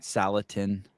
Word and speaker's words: Salatin: back on the show Joel am I pronouncing your last name right salatin yes you've got it exactly correct okay is that how